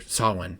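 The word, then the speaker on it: Samhain: See, you want to say Sam Hayne because that's how it's spelled. And again, this might be spelled wrong. I didn't double check before I wrote it down, but I do know that it is spelled way different than Sawin.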